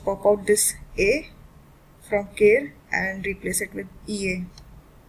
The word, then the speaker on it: quer: Alright, so that is why this stem will be pronounced as care, and which also means it will be this a which will undergo the stem change.